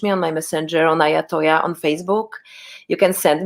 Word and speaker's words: Iyatoyah: visit my band camp it's ayatollah bandcamp i y a t-o-y-a-h is my name some people mis uh